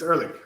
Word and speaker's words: Ehrlich: and at guessing uh so it will be uh early yeah yeah that's how you pronounce it yeah it's early um did you ever